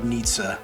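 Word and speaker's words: Nietzsche: are going to compare from a lot of Nitza and yes it's pronounced that way I went to Google Translate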